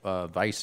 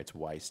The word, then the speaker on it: Weiss: has a website or something yeah anyway Brett vice or Weiss's Weiss sorry I'm used to sorry